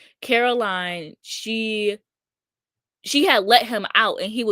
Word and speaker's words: Caroline: ass basement, and Caroline, I have to make sure I say her name right because I always want to say Coraline. Caroline, she had let him out and he was chasing her through the house.